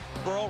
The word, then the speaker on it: Burrell: and he's got it pearl rhymes with pearl not happy we look